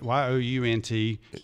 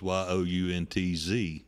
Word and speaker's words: Yount: And it's spelled Yount, but it's like punt, but spelled different.